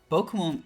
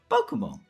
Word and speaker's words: Pokémon: versions of English words, Pokemon. And the accent aigu or acute accent on the E was actually added so that we don't say Pokemon.